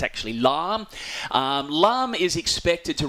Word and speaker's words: Lam: Cyclone alarm um from the Vietnamese uh pronunciation it's spelled l so a lot of people saying lamb but it's actually lamb um lamb is expected to run into arnam